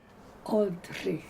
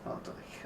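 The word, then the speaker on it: Oldřich: Oldrich. Oldrich, okay. Thank you. You're welcome. That's the sh which nobody knows how to pronounce but Czechs. Okay. Now, like in Dvořák.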